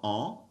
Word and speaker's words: est: Careful with that second word right there, E. It's just A by itself, E. So you don't pronounce the S, you don't pronounce the T.